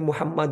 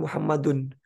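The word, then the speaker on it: محمدا: kata benda Muhammad ini Jadi dibacanya nasof ya jadi Muhammad dan bukan muhammaddun karena ada anak sesungguhnya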